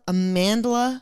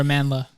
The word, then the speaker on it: Amandla: oh sorry guys Amanda Amandla I think that's how you pronounce it it's like Amanda but it has an L after the D kind of dumb sorry